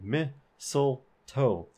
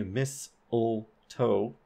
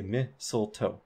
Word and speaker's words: mistletoe: if we pronounce it notice when we pronounce it we say MIT soul toe we don't say miss ole toe so we don't have the boundary here we say mistletoe mistletoe mistletoe now I just want